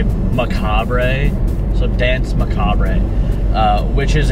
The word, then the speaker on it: Macabre: Because there's an R-E at the end, I'm going to say Macabre.